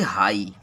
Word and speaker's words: high: तो इसको हम लोग यहाँ HIGH इसको बोलेंगे हाई, हाई मीन्स ऊंचा होता है। अब इसमें देखिए GH का उच्चारण नहीं किया गया है, GH से तो घ होता है लेकिन इसका उच्चारण नहीं किया गया।